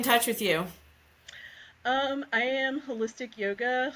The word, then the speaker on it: Holystic: I am Holistic Yoga. Holistic is spelled Holystic, so like holy stick, holistic, just spelled with a Y.